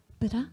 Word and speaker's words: Bedankt: How do you pronounce it correctly? Bedankt. Bedankt.